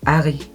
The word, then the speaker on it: Harry: En fait, en français, on prononce pas le H. Du coup, je l'appelle Harry, c'est tout.